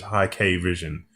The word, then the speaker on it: Hikvision: I found an official company webpage that had an English pronunciation, and it was High K Vision. But, That makes sense. but then at like a trade show, somebody from there did not say it that way.